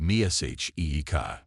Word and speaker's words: Mexica: The people who actually built the great city of Tennov Titlan called themselves the Mexica, pronounced Mihika.